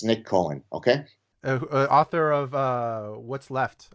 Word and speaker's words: Nick Cohen: His name rhymes with Knick Knohen, okay? I'm being facetious. It's Nick Cohen, okay?